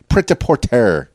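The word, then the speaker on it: prêt-à-porter: birthda poor today okay like porter but it's pronounced a little bit differently because you know every language has their own phonetics and so forth but you're doing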